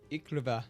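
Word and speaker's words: Iklwa: Let's see how Google pronounces it. It's Polish. Yeah. Good to know. YKLW. Thank you, Google. That was great. Not sponsored. Iklava. Iklava. Okay. Iklava. Now we know.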